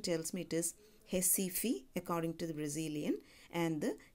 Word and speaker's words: Recife: place Recife r-e SCIF II which again the pronunciation tells Metis Hesse fee according to the Brazilian and capibaribe river so